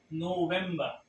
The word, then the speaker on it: November: So the right pronunciation is November, November.